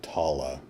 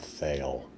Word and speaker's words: Thale: kind of boring uh if I'm hearing the language correctly it's pronounced tala not theale uh also tala seems